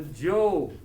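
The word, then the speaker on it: Zhou: the values of the joe period okay which is the next dynasty so the shang is the first dynasty the second dynasty is the joke spelled with the z-h-o-u so if i was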